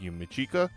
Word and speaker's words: Yumichika: I pulled Yumichika. I pronounced his name right, and Ikaku.